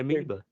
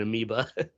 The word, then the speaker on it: amiibo: Fucking lost my amiibo. I can't find my amiibos, man. What is it? How do you say it? Or how do you spell it? Amiibo. Shit. Amiibo. I called it an amoeba.